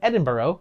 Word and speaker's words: Edinburgh: From there, it also had later productions in both New York and Edinburgh, which I am pronouncing correctly.